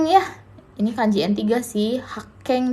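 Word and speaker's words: 発見: Nah di sini ada haken ya, ini kanji N3 sih, Hakeng dibacanya Hakeng di sini artinya penemuan desu ne.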